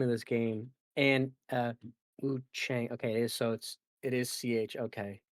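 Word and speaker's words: Wuchang: hard, it's like, I don't think they go that hard on the A, and it's like, "Ah" as in father, so Wu Chang. I was like, "Okay." I was like, "There, that's how you pronounce it." Because like, I kept just saying Wukong to be careful, but it's not like it's still CH, it's like, I know that's wrong, but it's like, Wu Chang doesn't sound right to me.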